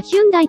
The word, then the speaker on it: ヒョンデ: されました当時はヒュンダイという故障でしたが 2020 年から本来の発音に近いヒョでに故障を変更しています設立当初はアメリカ